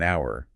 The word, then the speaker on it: hour: listen closely right like we wouldn't say an hour we say an hour because of that vowel sound at the beginning even though it's spelled with an H it sounds like it starts with the vowel exactly and it's the